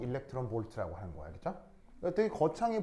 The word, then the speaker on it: eV: 얘 어떻게 읽냐면 일렉트론 볼트라고 읽어요. 아시겠죠?